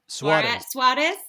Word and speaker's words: Soares: And I really liked when Elder, is it Soares? How do you say his last name? Soares.